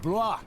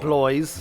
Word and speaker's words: Blois: Not only these monks, but also Stephen of Blois, the king's nephew, left the ship before it embarked. Oh, that's how you pronounce They it. say he got ill. Not Blois.